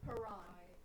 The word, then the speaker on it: Haran: Haran. Thank you. Think of like laughing like ha. Haran. First syllable is ha.